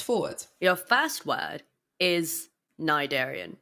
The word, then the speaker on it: cnidarian: your first word is nidarian it can be pronounced either nadarian cnidarian my Darian do you need a